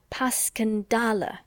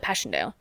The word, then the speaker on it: Passchendaele: Marchand it was so strange to hear you call at Passchendaele if I may ask because that's the way I pronounce it to myself but I looked it up and it's more like Baskin dollar bless you all the Tommies call it Passchendaele just as they called